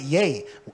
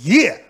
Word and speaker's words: yea: Some people pronounce it yay. Yay is Y-A-Y. It don't say yay. It says, yeah, yeah.